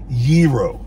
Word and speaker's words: gyro: there probably you're like what you talking about gyro or gyro that yiro i bet you guys didn't even know how to pronounce that because you're stupid i'm